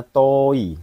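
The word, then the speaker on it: 遠い: Ya, ini kanji bacanya toi. Toi itu artinya jauh, artinya nih jauh. Jauh, memandang ya, jauh. Ya, toi, jauh. Ingat ya, to panjangnya ini pakai o ya, jangan pakai u.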